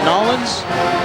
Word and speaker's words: New Orleans: We are back in, is it Nolens, Tom? How do they say it down here? Nolens? Yeah, that's how they say it. It's not New Orleans, it's Nolens, right?